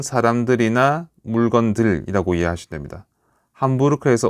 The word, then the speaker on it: Hamburg: 자, 그런데 우리나라에서는 실제 아, 실제로이 아, 시어에서는이 도시를 햄벌그라고 이제 부르지만 원래이 도시에가 보면은 도시 이름이 어, 함부르크입니다. 함부르크. 예. 근데 이거를 영어에서는 햄벌라고 읽는 거죠.